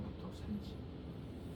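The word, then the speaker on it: 武藤山治: 그 사람 이름이 무토산지라고 돼 있더라고. 무토산지 발음으로는. 근데 한자로 보니까 무등삼치 한자로 읽어보면.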